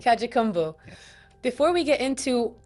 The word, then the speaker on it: Kajukenbo: Kajukenbo. Kajukenbo.